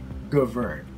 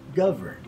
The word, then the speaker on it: govern: Just like this word on the screen, many of us read this as govern, but we should not put the stress on the second syllable, but rather on the first one. So this becomes govern.